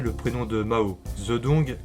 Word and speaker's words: Zedong: Zedong, comme la version officielle, ou bien Tse-tung? En réalité, c'est Tse-dong. Tong, comme une tongue.